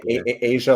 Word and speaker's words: Asia: Then we have, I believe you said to pronounce her name Asia. Is that? Yeah, Asia, like the continent.